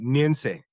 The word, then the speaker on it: Nyentsey: How do I pronounce your last name? It's uh Nian.